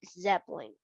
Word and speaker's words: zeppelin: how to say this zeppelin like there's it's kinda silent the letter e here is kind of silent like zeppelin okay okay more oh